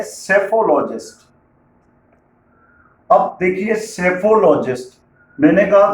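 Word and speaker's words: psephologist: लेकिन ऐसा नहीं है सेफोलॉजिस्ट की स्पेलिंग पी से स्टार्ट होती है सेफोलॉजिस्ट के पहले आप देख रहे हैं स्पेलिंग में पी भी आ रहा है मतलब पी साइलेंट है अरे भाई बड़ा कंफ्यूजन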